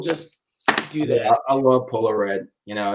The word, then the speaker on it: Polo Red: because I like the Polio Red. Yeah, I said polio. I said it wrong on purpose, people. Polio Red. Yeah, it's Polo Red.